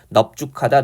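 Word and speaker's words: 넓죽하다: 그 다음에 넓다 같은 경우에 죽하다나 둥글다 결합했을 때 넙으로 발음해서 넙죽하다 넙둥글다 이렇게 되는 거예요.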